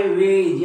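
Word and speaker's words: wedge: हे हा वेळ नाही हा आहे वेज या वेज समजते तुम्हाला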